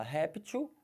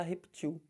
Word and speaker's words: réptil: jacaré eles são répteis Então você fala réptil mas também pode falar repetiu estranho para caramba né